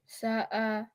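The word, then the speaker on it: ساء: Okay, sa'a. Sa'a. 3-letter words. The other word. So Sound rhymes with the word we just did. Sa'a.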